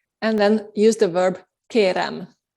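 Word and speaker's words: kérem: then use the verb kerem kerem with an m at the end est keren i want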